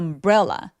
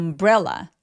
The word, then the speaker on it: umbrella: 엄브라는 강세가 브레 부분에 오기 때문에 첫 번째 소리인 엄 부분에서 힘을 쫙 빼 주셔야 돼요. 그래서 take 여기까지가 덩어리로 소리가 납니다. take an umbrella. Take an umbrella.